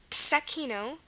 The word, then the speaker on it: zecchino: be a Z, like zecchino. Zecchino. Now this word is also pronounced tsecchino with a TS sound at the beginning, so that might help to figure out that it's a Z, not an S.